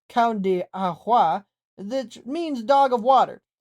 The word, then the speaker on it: Cão de Água: The breed is known in native land as the Cão de Água, pronounced Cão de Água, which means dog of water.